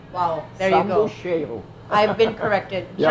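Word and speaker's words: Zambujeiro: But to the Portuguese, it's called the jambuchero. Yeah, Correct? sambucheiro.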